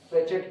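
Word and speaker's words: Fréchet: कई लोग फ्रेचेट पढ़ देते हैं, कई लोग फ्रेसेट पढ़ते हैं, तुम्हारा जैसा मन करे वैसा प्रोनाउंसिएट करो, कोई नहीं रोक रहा है, हम तो बिल्कुल नहीं रोके।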